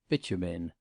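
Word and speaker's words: Beauchemin: had married Lord bitumen mr. freer had caught quite the right pronunciation of this name which he successfully sounded at bitumen lady Lucretia had done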